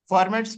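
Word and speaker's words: Fermat: can do it again formats principle of it's actually for ma T is silent but that's okay all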